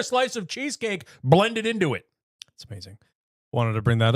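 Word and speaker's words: It's-It: Erin, you guys need to try it. It ice cream sandwiches.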